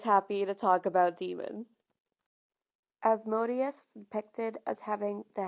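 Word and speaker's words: Asmodeus: asmode or you might know him better by asmodus some people pronounce it as modus but ghost pronounces it as as modius so I'm going with that because everything Papa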